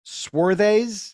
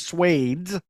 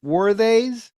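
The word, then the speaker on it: Swades: in second place was swarthays I think that's how you pronounce it I thought it was suede but it's worthies um and I understand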